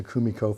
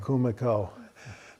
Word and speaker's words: Kumiko: I always want to put the accent on, but there's no accent on any of those syllables, right?